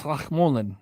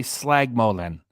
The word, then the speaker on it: Slachmolen: It's Slachmolen. Slachmolen. At least I knew enough not to just say Slagmolen. It's Slachmolen.